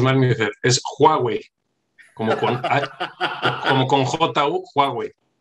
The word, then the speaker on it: Huawei: no te lo puedo decir bienvenido siempre lo pronuncias mal ministerio es huawei como cuantas con jota huawei oye muchas gracias